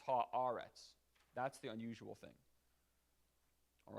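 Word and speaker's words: הארץ: unusual thing is eretz it's not ha eretz it's ha aaretz that's the unusual thing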